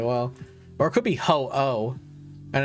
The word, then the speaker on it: Ho-Oh: People don't realize Ho-Oh is spelled H-O-O-H. It's not ho-ho like Santa Claus. It's Ho-Oh.